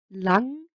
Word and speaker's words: lang: which is a gate n plus a g creates this nasal sound where only half the g is pronounced an example is drang boy lang which is long and ingilsk english so the ng sound is kind of similar to that of english in the word long so same ng sound